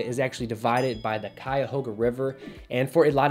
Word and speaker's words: Cuyahoga: actually divided by the cuyahoga river and for a lot of people i've noticed you having trouble pronouncing it it's not kyoga we have cuyahoga county and the cuyahoga